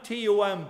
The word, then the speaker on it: Tomb: the name cuz I'm t o m b uh pronounced Tom and that's the way it's meant to be pronounced but my uncles whom